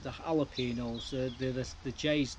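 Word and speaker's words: jalapeños: My jalapenos are not jalapenos. I can't always pronounce them with the J. They're not the jalapenos.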